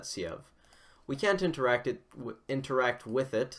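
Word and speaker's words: Sieve: I'm pretty sure you pronounce that Siev.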